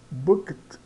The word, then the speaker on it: booked: i have I have booked a eu reservei quarto Observe o seguinte booket booket né esse e aqui no meio é mudo tá então booked I have